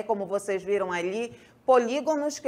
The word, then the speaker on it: polígonos: começar justamente por aí polígonos e Não polígnos como costumeiramente aí ouvimos alguns pronunciarem então polígonos Tudo bem por